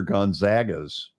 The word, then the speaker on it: Gonzaga: Well, it's where Gonzaga's tournament gets played. They're not Pac-12, Mountain West. Yeah, right. Gonzaga or the WAC, whatever the where are they today? Gonzaga, not Gonzaga.